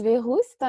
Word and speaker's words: Verroust: Bonjour Agnès Véroust, je suis ravie de t'accueillir. Ça se prononce bien comme ça, ton nom de famille?